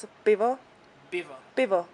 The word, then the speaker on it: pivo: It's a pivo. Pivo. Pivo. Like Pivo. with P. Pivo. Yes. Pivo. Oi. So if you like Pivo. to order a beer in Czech, just jedno pivo, prosím.